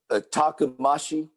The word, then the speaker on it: takumashi: your system and and please pronounce it again because i'm horrible with name takumashi takumashi it means stronger bold takamashi takamashi you said you